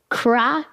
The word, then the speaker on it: cryogenics: My next question is about cryogenics. We got to say it. That's 3 syllables. Cryogenics. Okay, got it.